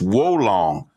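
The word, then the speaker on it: Wo Long: say bobo's maybe because uh i mispronounced the title of the game but it's woe long fallen dynasty and at the end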